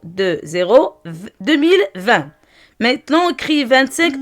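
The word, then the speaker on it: vingt: 25 mars, le mois mars, 2, 0, 2, 0, 2020. Maintenant on écrit 25 en lettres. V, I, N, I1 c'est 1. V1 c'est 20. G, T. 20. GT est muette. Je prononce que 20.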